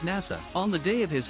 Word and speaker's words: Nasa: The story follows a protagonist whose name is written with the characters for Hashizora, Starry Sky in Japanese, but whose name is pronounced as Nasa.